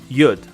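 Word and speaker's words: יוד: Next up is yud, like wood, but with a Y.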